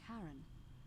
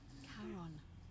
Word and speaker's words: Charon: The name you heard wasn't Karen. It was C-H-A-R. Fucking called it! As in, Charon, the ferryman of Called the it!